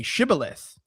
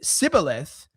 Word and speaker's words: Shibboleth: If he said no, then he would say, "Very well, say Shibboleth." If anyone said Sibboleth, but could not pronounce it, they would then seize him and kill him by the fords of the Jordan.